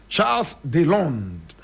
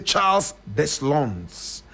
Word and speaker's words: Charles Deslondes: French pronunciation, Charles Deslondes. Charles Deslondes. Charles Deslondes. But in English, we say Charles Deslondes.